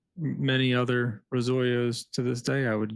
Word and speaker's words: Razoyo: And so, the Italian word is r o, but it's pronounced the same way our company is pronounced, Rosoyo.